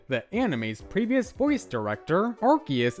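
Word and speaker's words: Arceus: Finally, according to Tom Wayland, the anime's previous voice director, Archus is pronounced with a hard C, so their name doesn't have ars, which is, of course, British slang for butt.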